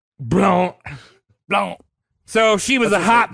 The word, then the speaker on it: Blount: Blount. So she was a hot mama. That word is pronounced Blount.